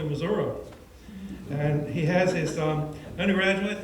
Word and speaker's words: Missouri: Professor Davis is originally from Independence, and I promised him I would pronounce it correctly, Missouri.